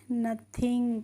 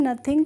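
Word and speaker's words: nothing: तो एनटी ए आई एनजी को हम पढ़ेंगे नथिंग क्या पढ़ते हैं इसको हम नथिंग पर ते और नथिंग का मतलब होता है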